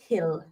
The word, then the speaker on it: Gil: Why is so American, Gil is so Spanish? I know, apparently it's pronounced Hill. Bayern Hill. I think that's how you say it.